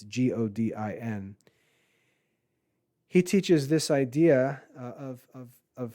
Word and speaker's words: Godin: Seth Godin, I think his last name is pronounced Godin. It's Godin.